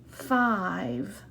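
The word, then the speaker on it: five: So I'm going to circle that silent E. And listen, 5. Right, remember? He's silent. We see him, but he's not making a sound. The rule for that is silent E makes the vowel say its name. And this is the vowel I.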